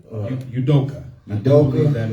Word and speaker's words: Udoka: It's Udoka. Udoka.